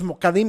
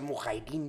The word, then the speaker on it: mujahidín: Fíjate cómo son los mokadim que te estaba haciendo. Ajá, ok. Que en realidad se pronuncia mujahidín.